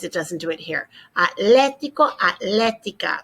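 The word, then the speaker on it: atlético: doesn't do it here atletico atletico it's kind of tough to get in that habit of getting rid of that h but we must atletico atletico accent on the elephant and then let's remind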